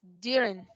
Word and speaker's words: during: Y la otra no es during, es during. Y la otra es argue, argue.